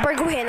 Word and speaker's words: Bergwijn: I pronounce his name Bergwijn.